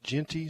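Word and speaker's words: Jeanty: more chance uh the Boise running back Genty Genty is that how you say it yeah he's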